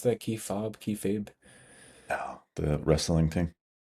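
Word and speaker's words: kayfabe: Kay fab. I always thought it was some crazy Japanese word. I think squared circle is the K like okay. Fabe like babe.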